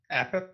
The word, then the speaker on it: Apep: Like a pit, Armpit? but one word. A pep. A pit. Armpit. Okay. It's like Yep. a pep rally, but without rally. A pep.